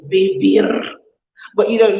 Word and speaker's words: vivir: And you don't differentiate the V and the B sound in Spain. But I love the sound of V. Vivir.